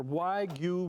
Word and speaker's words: wagyu: take a look at something called why goo meat or why you meat that's how you say it i'm going to show